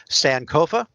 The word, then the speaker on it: sankofa: word i'm going to i don't know if i'm pronouncing it correctly sankofa oh oh yes yes you are yes thank you yes